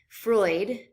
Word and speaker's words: Freud: in our class so the first is sigmund freud freud is how you pronounce that last name sigmund freud is one